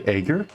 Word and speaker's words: Aegir: Wait, did she say Aegir? Is it pronounced Aegir? Oh, okay. Well, I've been pronouncing it wrong this whole time.